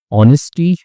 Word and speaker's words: honesty: ऑनेस्टी। ठीक है? तो इसमें एच साइलेंट होता है।